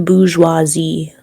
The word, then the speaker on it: bourgeoisie: B-O-U-R-G-E-O-I-S-I-E. Bourgeoisie. Is that how That you should be imagine the word pronounced being spelled?